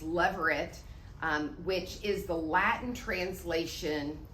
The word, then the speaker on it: levirate: I said it wrong last week. It's levirate, which is the Latin translation of the Hebrew word for brother-in-law.